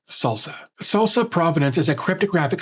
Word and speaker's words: SLSA: SLSA here isn't about tortilla chips. It's the acronym for supply chain levels for software artifacts, pronounced "salsa".